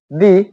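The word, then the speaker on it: the: Vowel এই দুটিও থাকে, তাহলে আমরা এর উচ্চারণটা দি করব।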